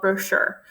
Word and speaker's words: brochure: the actual definition of brochure she also learns how to pronounce the word the letter CH are pronounced like Shh she continues reading cover